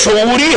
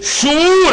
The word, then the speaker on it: شعور: گھبرانا نہیں۔ نیند بے شعوری ہے، بیداری شعور ہے، شین پہ پیش ہے، عام طور پہ شعور تلفظ کیا جاتا ہے، چلیے یہی صحیح۔ بیداری شعور ہے کہ